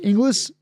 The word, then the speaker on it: Inglis: And, Josh Inglis, famously known for people not knowing how to pronounce his name, Inglis.